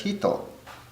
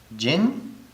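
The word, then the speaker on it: 人: Now jin in the kun reading, or person in the kun reading, is pronounced as hito. So the kun and the on. Pronounced as hito. In the on reading, it is pronounced as jin, nin, and many other things.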